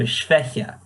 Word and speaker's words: schwächer: And I got told that schwächer in the comparative sense, I need to put more emphasis, so schwächer.